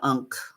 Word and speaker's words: Ankh: And she is a protector of life itself because of her name being Ankh, the Ankh, or Ink is the way it's really supposed to be pronounced.